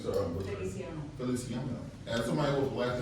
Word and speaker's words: Feliciano: how do you pronounce your last name, sir? Feliciano.